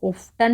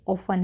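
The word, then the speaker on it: often: यहाँ पे T silent है तो प्लीज़ इसको ऑफ्टन ना पढ़ें, ये ऑफन है, ओके।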